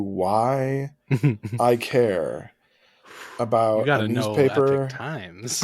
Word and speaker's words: Epoch Times: Justice is looking into a publication called The Epic Times it's uh pronounced epic times but it's spelled EPO C